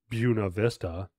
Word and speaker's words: Buena Vista: um Camp Derby and then going out to bua Vista oh yeah yeah yeah and you pronounced it incorrectly and a local just got